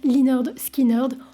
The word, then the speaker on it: Lynyrd Skynyrd: sort son premier album prononce linerd skinerd en référence à la